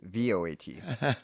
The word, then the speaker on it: Voat: VOAT. Oh, Well, I still have not heard of that. it's pronounced coat.